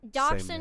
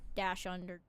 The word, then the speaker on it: dachshund: Yeah, cuz like I it's the same spelling of that word. I think it's just the way that you pronounce it if you choose to anglicize it or not. Well, and typically dachshund or doxy.